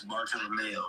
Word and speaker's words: Bartolomeo: How you say it? Bartol? It's Bartolomeo, but it's Facts.